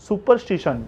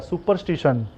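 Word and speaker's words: superstition: ये भी वर्ड थोड़ा ऑकवर्ड है, इसलिए मैंने इसका प्रोनाउंसिएशन लिखा है सुपरस्टिशन। याद कीजिएगा, 10 बार बोलिएगा तो ऑटोमेटिक अंदर से आ जाएगा सुपरस्टिशन, यानी अंधविश्वास।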